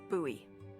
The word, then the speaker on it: Bowie: It's actually pronounced Bowie. What? No, it's like the last name, like David Bowie.